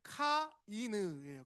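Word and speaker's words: קין: 정확하게는 카이느예요. 카이느 카이느라는 이름을 짓게 됩니다.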